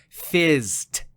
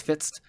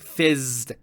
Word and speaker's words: FZZT: episode is actually pronounced fizzed. You know, it's spelled FZZT. I always just thought it was fitzed, but it's like fizzed because of the buzzing noise that we hear.